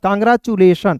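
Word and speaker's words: congratulation: आई ओ एन चूलेशन यहां पे टुलेशन नहीं पढ़ेंगे चूलेशन कांग्रेचुलेशन क्लियर है जी चलिए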